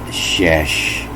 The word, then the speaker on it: shesh: See how the pronunciation is here? Shesh. The same thing here, shesh.